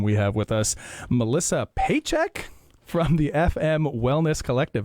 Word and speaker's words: Pachak: We have with us Melissa Paycheck from the FM Wellness Collective. Hello, Melissa. Hello. Happy to be here. Paycheck, it's spelt though P-A-C-H-A-K, not Pachak. It looks like Pachak.